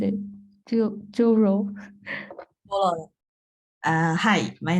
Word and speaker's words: Jyoro: as well okay and then oh how to pronounce it Joo uh hi my name is Joo and Tokyo to my research interesting is what